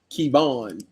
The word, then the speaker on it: Kevin: Let's find Kevin Kevon, but it's spelled Kevin Oh, Kevan.